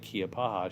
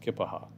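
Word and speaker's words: Keya Paha: the other station, that anytime any of us would say Keopaha, she would write us a letter and say it's pronounced Kippaha.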